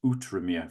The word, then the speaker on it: Outremer: it's spelt, but I've been corrected on my pronunciation, and it is Outremer for those of you that don't know.